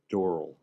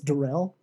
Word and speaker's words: Doral: Doral. Got it. Doral. You know how to say it right. I think it's Dorel.